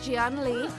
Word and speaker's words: Gian Lee: And yes, that is how you pronounce his name. It is Gian Lee.